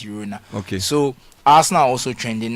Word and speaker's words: Girona: It's pronounced Girona. Yeah, I believe so. It's not Girona. I believe there's a difference. You know, it's a different.